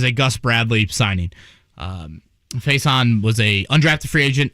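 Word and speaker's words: Facyson: one name i probably looked up this guy's pronunciation uh before i say it on air i'm sh faison is that where you're going with jake f-a-c-y-s-o-n faison faison brandon you may be right cornerback 6-2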